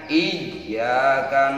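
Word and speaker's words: إِيَّاكَ: Awas iyanya, ya. Di situ ada tasjid, jadi ada penekanan dalam membacanya. Iyyaka na'budu wa iyyaka nasta'in.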